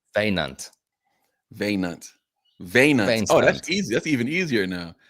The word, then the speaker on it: Wynand: vein stunt without the Vein, st. Veinant. Veinant, Veinant. Vein Oh, that's stunt. easy. That's even easier now. That's how you expressed it Veinant.